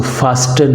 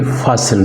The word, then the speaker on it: fasten: इसमें जो टी है वो साइलेंट है, लिहाजा हम इसको फास्टन नहीं पढ़ेंगे बल्कि फासन पढ़ेंगे।